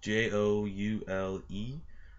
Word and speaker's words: Joule: but it is joule lacrosse it is spelled j-o-u-l-e but pronounced joule as in a joule that you